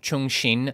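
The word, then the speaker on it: Cheng Xin: will next examine Jan 3 BP's version of Chung Shin by the way that's how her name is pronounced in the audio book so that's what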